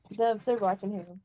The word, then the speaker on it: Rockingham: say the word Rockingham no he said Rockingham Rockingham Rockingham Rockingham that's how you say Rockingham rocking